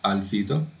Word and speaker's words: albedo: Esto que dice ground albedo, se pronuncia albedo.